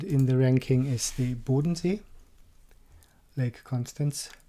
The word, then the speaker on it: Bodensee: And the second in the ranking is the Bodensee, Lake Constance, Bodensee.